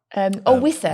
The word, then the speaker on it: Wissa: Have I pronounced that right? Wissa.